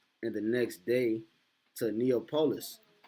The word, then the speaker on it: Neapolis: now neopolis uh neopolis i just said neopolis neopolis is how you say it neapolis um actually